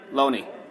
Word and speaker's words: Loney: Loney. It's pronounced Loney.